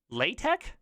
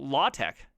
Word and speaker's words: LaTeX: foreign how did he I think he fully mispronounced that latex is that a fully mispronunciation of it I call it law Tech you know there's a